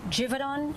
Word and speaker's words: Givaudan: So this happened at Sense Color by Givaudan. That's how the mayor pronounced it.